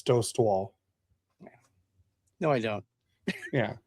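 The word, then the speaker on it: Dostál: It's Dost Wall.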